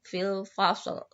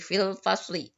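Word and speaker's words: في الفصل: Fil fasli atau fil fasl. Fasli biar kalian lebih jelas. Untuk belajar maka diharokatkan saja. Jadi fil fasli. Kalau pengucapannya bisa fil fasl, tapi kalau tulisannya harus fil fasli.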